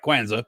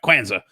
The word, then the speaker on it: Kwanzaa: Kwanzaa. It's two syllables. Right, Kwanzaa.